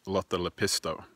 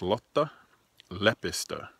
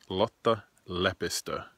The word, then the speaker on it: Lotta Lepistö: a lot the lepus ters name it's not pronounced lata lepisto which makes a sound like a 1920s French gambler it's pronounced lata lepa stir with the emphasis on the left the beginning